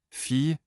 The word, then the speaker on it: fille: LL prononcé avec un léger son I, J. Fille, ma fille adore les animaux.